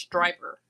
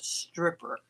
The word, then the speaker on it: striper: I think it's pronounced striper, not stripper.